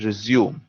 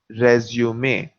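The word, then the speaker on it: résumé: or without those accents in english we would read this as resume which is a completely different word and means to restart so repeat after me resume now through matara's course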